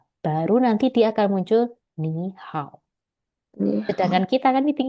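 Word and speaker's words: 你好: Dui, bacanya adalah ni hao.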